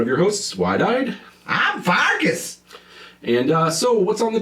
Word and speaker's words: Pfarcus: This is Pfarcus, the P is silent.